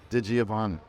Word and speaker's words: DiGiovanna: it real with Mel we're here with digiovanna maid you pronounced that right that's pretty impressive we're at